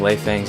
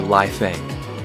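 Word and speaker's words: Lei Fang: I spent a whole day pronouncing Lei Feng's name wrong. I called her Lai Feng.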